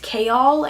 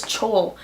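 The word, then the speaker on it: Chaol: I also really liked Kayal, and that's a really weird pronunciation because I thought it was Chol for such a long time. But then at the back of the book, it has a pronunciation guide, and I saw this says Kayal Westfall, not Chol.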